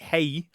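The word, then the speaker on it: hej: And it's the same story for hey. Anybody who knows Swedish knows that hey is a fairly standard greeting in Swedish, H-E-J. And it looks a lot like our hey and it sounds like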